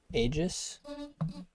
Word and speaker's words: aeghis: He pronounced it, or he wrote out the pronunciation. I've always said it the third way. Aegis.